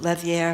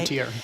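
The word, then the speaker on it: Lethière: So Jared Bowen I I want to talk about this painter Guom Levier if I'm saying it right. Lutier Lutier, excuse me.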